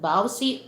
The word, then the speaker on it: VAWC: It's a v a c uh v a wc we we uh pronounce that bowsy or excuse me violence against women and children.